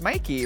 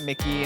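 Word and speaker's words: Myki: In drag, it's M Y Ki, but people still don't know how to say it. But it's Mikey, right? Not Mickey, not Meek.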